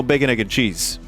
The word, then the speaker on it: bacon, egg, and cheese: However, I do know bacon, egg, and cheese. Pronounced as one word.